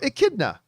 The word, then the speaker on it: echidna: echidna echidna echidna echidna there you go echidna all right and everybody put a as in the canadian eh thank you everybody for